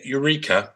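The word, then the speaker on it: Yreka: But it was the Eureka, which is spelt weirdly, it's Y-R-E-K-A, teenager, Frederick Spencer Oliver,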